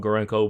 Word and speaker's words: Gorenko: you pronounce it uh some people might call it gorinko but gorenko is how i would say it this thing looks like